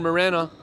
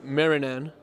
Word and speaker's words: Marinan: And excuse me on the pronunciation here, it's Sean Marinan.